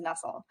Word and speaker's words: NUCSL: use case and solutions library the acronym is nussel pronounced somewhat like nussle and so a nestle is